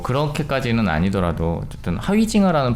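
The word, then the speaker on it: Huizinga: 내가 뭐 아니면 좋아하고 내가 프랑스인인데 근데 그런 얘기들이 있는데 어쨌든 하위징하의 경우는 뭐 그렇게까지는 아니더라도 어쨌든 하위징하라는 발음이 맞는가 봐요.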